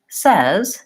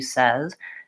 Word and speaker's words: says: the word says here's my symbol for the Red Tent vowel the F sound and I can listen to say and listen to says and begin to develop